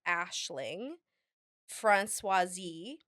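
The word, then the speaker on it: Aisling Franciosi: actress um it's her her name is pronounced Ashling franois um she was in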